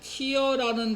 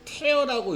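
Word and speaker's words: tear: 그다음 내가 주의깊게 요게 티어라는 단어가 아니라 티어가 눈물이잖아. 근데 태어라고 읽을 수 있어요.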